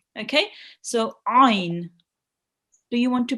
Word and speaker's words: عين: So with the ayn, the rule about the ayn is it will be read from the middle of your throat. Okay, so ayn. Do you want to pronounce it with me? Yes. Ayn.